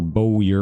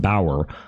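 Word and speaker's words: bowyer: it is not pronounced Boyer or bowier or whatever it's pronounced Bauer uh just like the German last name uh so yeah and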